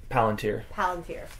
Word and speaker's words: Palantír: Palantir.